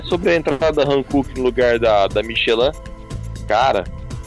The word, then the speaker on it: Hankook: Rodrigo, só uma informação meio desnecessária, a pronúncia correta é Hankook mesmo, e só uma coisa, o nome, na verdade significa Coreia do Sul, a marca do pneu é Coreia do Sul.